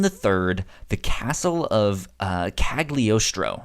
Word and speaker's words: Cagliostro: So I wanted to dive into Lupin the Third, The Castle of Cagliostro, I believe is how you pronounce it.